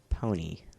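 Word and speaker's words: DJ PON-3: First of all, it's pronounced pony.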